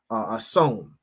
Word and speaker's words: Samhain: All right, Halloween has its roots in the ancient Celtic festival of Samhain, right, is how it's pronounced, which marked the end of summer and the harvest and the beginning of winter.